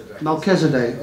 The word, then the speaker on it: Melchizedek: How do you pronounce that, Mark? Melchizedek.